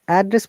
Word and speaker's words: address: But if you want to use it as a verb, now you have to just change the intonation the other way around. So it should be down intonation to upper intonation.